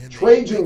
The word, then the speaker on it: Trajan: Trajan Wealth. Give them a call. It's 1855 traje. That's 1855 traje. And it's spelled T R A J A N.